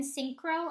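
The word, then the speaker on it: Sincero: read it it's by Jen syncro actually that's how you say her name um it's really good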